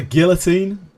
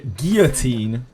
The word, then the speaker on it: guillotine: Strong words instead of the guillotine. Isn't that a weird one? like Americans say guillotine. Um, which is much closer to French, but um, the British say guillotine.